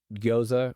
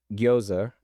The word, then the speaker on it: gyoza: But my understanding is that gyoza is how you say in Japanese.